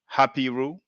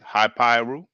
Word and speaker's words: Hapiru: Now, some people, have tried to say that the Hebrews are Hapiru. Some people used to pronounce it Hypiru.